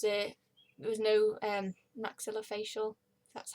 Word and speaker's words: maxillofacial: and there was a there was no um maxillofacial that's how you pronounce it so they transferred me to another